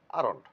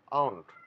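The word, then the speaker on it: aren't: আরন্ট, এখানে লক্ষণীয় বিষয় হলো আরন্ট ইংলিশে আর এর উচ্চারণটা, ইংলিশে সাধারণত আর এর উচ্চারণ কদাচিৎ হয়ে থাকে, তাই আরন্ট না বলে, এটাকে আরন্ট না বলে আমরা বলবো আউন্ট।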